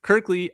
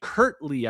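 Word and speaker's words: Kirtley: Kirkley. It's actually Kurtley.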